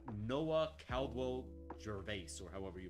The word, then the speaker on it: Gervais: It's Gervais.